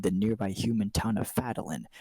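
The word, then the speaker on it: Phandalin: Times were good, and the nearby human town of Fadalin, pronounced Bandolin, prospered as well.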